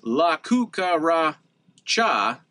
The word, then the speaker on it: La Cucaracha: struggle to walk now the cool part about that is la cuca ra cha the fifth syllable there gets stressed or emphasized isn't that really interesting